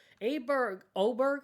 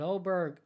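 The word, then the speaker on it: Åberg: Oberg, I think it was. It's spelled Aberg.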